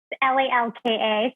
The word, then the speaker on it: Lalka: It's Lalka, so it's Lal and then Ka.